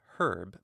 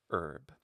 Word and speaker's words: herb: And this is why the English say herb, but Americans say herb.